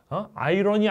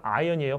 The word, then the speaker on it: iron: Iron. 아이러니 아니야. 이거 아이언이에요. 발음 조심해.